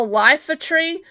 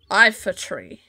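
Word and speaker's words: Iifa Tree: That's the way to Oh my god, you mean this thing isn't called a lifer tree?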